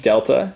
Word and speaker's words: delta: Triangle is pronounced delta, and in math it means change in.